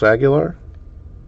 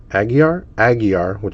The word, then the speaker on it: Aguiar: Carlos Aguilar. No, try that again. See, I always do that. I kind of think I see the name, but Aguiar with no L.